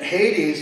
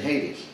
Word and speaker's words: Hades: And Hades, that's the actual pronunciation, the Greek term that is transliterated in the English pronunciation, Hades.